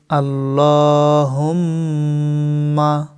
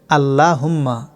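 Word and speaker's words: اللهم: অনেকে ভুল করে বলেন আল্লাহুম্মা, এটা ভুল। সঠিক উচ্চারণ আল্লাহুম্মা। আল্লাহ শব্দের ডাইনে জবর থাকার কারণে লাম জবর ল মোটা করে এবং লামের উপর খাড়া জবর একালিফ পরিমাণ টানতে হবে।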